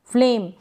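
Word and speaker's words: flame: मंजिल यह है फ्लेम फ्लेम यहां पर इ को नहीं पढ़ेंगे इ को अ ही इसका उच्चारण होगा मतलब बोला नहीं जा रहा ई का साउंड नहीं आ रहा ई आ रहा है नहीं अ के रूप में इसका साउंड आ रहा है यानी सिर्फ हम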